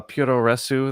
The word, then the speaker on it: Puroresu: This is also Puroresu. That's like how the Japanese pronounce pro wrestling. Like that's how their phonetic alphabet works.